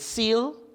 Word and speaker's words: CEAL: Is it SEAL? How do you pronounce SEAL? Consulting Engineers Associates Limited. CE A L. So we call it seal and seal green.